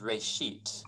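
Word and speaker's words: רֵאשִׁית: a hebrew word uh it's pronounced ray sheet and it just means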